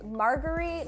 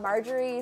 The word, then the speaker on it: Margaree: someone actually corrected me it's margar not margerie so margary I know